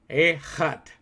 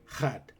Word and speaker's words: Echad: So it's Echad. That's how you say it. Echad. Echad.